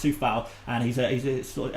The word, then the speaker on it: Coufal: It's spelt Coufal. So it looks like it's spelt Koufal or Koufal or something, but it's pronounced Soufal.